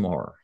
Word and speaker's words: Moher: And over by the cliffs of, and I would have said Cliffs of Moher, but I guess they pronounce it Cliffs of Moher.